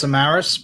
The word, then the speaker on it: Samaras: depends on the day i say it's samaras but um as long